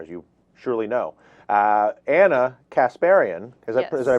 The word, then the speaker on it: Kasparian: Anna Kasparian, is that I pronounce your last name correct?